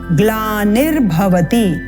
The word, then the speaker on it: ग्लानिर्भवति: यदा यदा हि धर्मस्य ग्लानिर्भवति यह जो रेफ है यह नी के साथ उच्चारित होगा गला निर भवति भारत स्पष्ट है द्वितीय पंक्ति अभ्युत्थानम अभ्युत्थानम